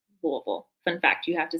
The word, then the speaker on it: Louisville: Look, you can hear that Kentucky accent come out when you say Louisville.